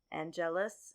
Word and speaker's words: Angelus: That there was a character named Angelus. Angelus, and so the emphasis on the long syllable.